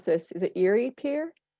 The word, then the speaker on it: Erie Pier: How secure is the, might mispronounce this, is it Erie Pier? Erie Pier Correct.